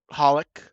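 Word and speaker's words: xxxHOLiC: right in front of Holic. Do you pronounce the X in that title that show or not? I don't do know. not. I've been told no. Okay. I've been told no also.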